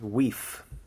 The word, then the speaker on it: wife: so first of all wife in mid Middle English is pronounced we there was a good